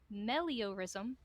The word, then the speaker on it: meliorism: despite the dangers ahead, the paladin's belief in meliorism kept the party's spirits high as he was convinced their actions could make the world a better place. And it's spelled M-E-L-I-O-R-I-S-M.